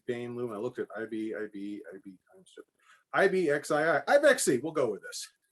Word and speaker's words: IBIXII: We call it the IBIXII loom. It's IBIXII. And that is a mispronunciation of IB, X as in times 2.